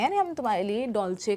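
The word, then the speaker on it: Dolce: इसमें देखिए इसका प्रोनाउंसिएशन डोल से नहीं कर रहे। हम इसे सी एच प्रोनाउंस कर रहे हैं। हम कह रहे हैं डॉलचे।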